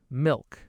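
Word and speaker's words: Milch: Milk. Milk. Milk. After the L, which is a consonant. So the soft sound.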